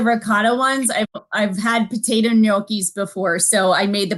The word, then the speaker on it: gnocchi: Jean is asking, I know, Jean is asking, does Jennifer use potatoes or ricotta cheese with her, how do you pronounce it? Gnocchi.